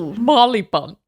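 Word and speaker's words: Marylebone: And it's better than Marley Bun which is um annoying because it's spelled Mary Leone but it's pronounced Marley Bun. Marley Bone.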